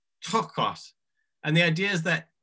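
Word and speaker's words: πτωχός: But they use the same word, and it's trochos. Again, I'm not pronouncing it correctly, but it's P-T-O-C-H-O-S. So trochos. But I've heard some people, and I don't know if this is true.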